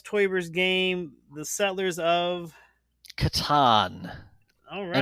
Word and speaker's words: Catan: How do you pronounce Klaus Teuber's game, The Settlers of? Catan, All and I right, even think from Indiana, you got it right.